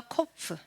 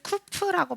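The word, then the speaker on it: קוף: 한 번 더 코프. 네, 이 코프는 어떤 사람들은 쿠프라고 발음하는 사람도 있어요. 쿠프. 네, 코프. 근데 저는 코프라고 하겠습니다.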